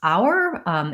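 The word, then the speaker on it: hour: So we had a request for how to pronounce our, H-O-U-R, and we just talked about that because it's a homophone with our, O-U-R, so we've got that covered.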